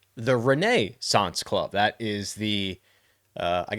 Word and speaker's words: Renaissance Club: this together because we are going to the Renaissance Club or as you may hear me say or others say the Reneance Club.